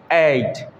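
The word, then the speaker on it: eight: যদি ই আই এর পরে জি এইচ থাকে, এরকম অনেকগুলো শব্দ আছে যেখানে জি এইচ টোটালি সাইলেন্ট ভূমিকা পালন করে, কোনো রকমের এখানে তারা উচ্চারণ হয় না, কেমন আমরা জি ফর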